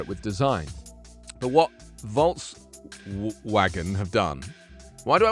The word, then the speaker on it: Volkswagen: It's because of the German, that's why. Because it's a German brand, and I'm used to the Germans saying Volkswagen. Because someone picked me up on that once before. They're like, why do you say Volkswagen? It's a W. And I'm like, well, because it's German. You have to say it the way it's meant.